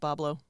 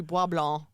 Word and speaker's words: Bois Blanc: They just spelled it phonetically, like Chef Boyardee. Okay. All right. Sure. Okay. All right, we'll go Yeah. with it. It's in modern French it'd be Bois Blanc, Yeah.